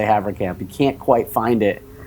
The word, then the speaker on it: Haverkamp: What did I say just now? You said Havercamp. You said it right.